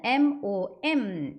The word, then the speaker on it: mom: 마암이라고 제가 옆에 짝대기 쭉 긋고 길게 발음하시라는 표시로 해놨어요. 그래서 맘이 아니라 맘 이렇게 발음하셔야 됩니다. 원래 맘카페 있잖아요. 요즘에 엄마들 들어가가지고 카페에서 활동들 많이 하시는데 그 맘카페가 있는데 맘이 아니라 맘입니다. 길게 발음해주세요.